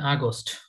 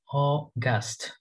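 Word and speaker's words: August: ওকে তারপর যেটা আমরা বলি হচ্ছে আগস্ট আগস্ট, এইটা উচ্চারণটা হবে হচ্ছে অগাস্ট অগাস্ট অগাস্ট অগাস্ট অগাস্ট অগাস্ট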